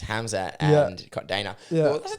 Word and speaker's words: Khamzat: Yeah, it depends where you are. I believe in Russia you say Hamza, and other places you'll pronounce the K.